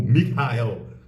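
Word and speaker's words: מיכאל: Arcanjo para os Judeus onde seu nome se pronuncia é algo como Mikael o que denota uma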